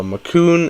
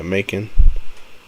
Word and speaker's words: Macon: So Macon is pronounced like bacon. Wait, what? Oh, it is Macon. Oh, okay, Macon.